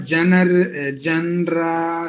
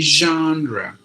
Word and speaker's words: genre: uh where it's like we said genre Genera some other way somewhere there are so many ways it is said actually it should be genre Jean we don't have that